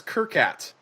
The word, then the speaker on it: Qirkat: the middle east although also known as kerkat spelled with a q no u i r i-r-k-a-t this is more reminiscent